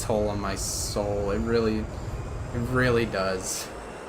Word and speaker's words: Seoul: things be nice well I think they get like Linguistics sheets given to them so I'm just going to assume that they're right on that one and that it is actually pronounced Soul there's a wicked name